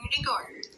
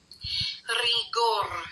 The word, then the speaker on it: rigor: pronunciation ng rigor so kailangan yung R niyo Hindi matigas na R R Hindi matigas na Ganon hindi dapat rigor hindi dapat ganon bawal yon dapat malambot na R so sasabihin ni lang yung re as in kung paano mo sasabihin yung we gawin